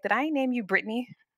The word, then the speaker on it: Brittany: Emphasis on Brittany, three syllables.